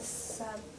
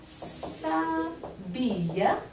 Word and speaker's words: s'habille: Elle s'habille. Elle Elle s'habille. Oh, right. Yeah, so remember this double L makes a y sound.